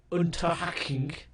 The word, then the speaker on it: Unterhaching: We beat second 11 2-1, and then we beat Unterhaching 4-0. That is the correct pronunciation.